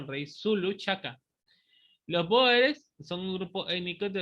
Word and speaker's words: Boer: El nombre Boer viene del nombre común neerlandés Boer, pronunciación Boer, ¿no?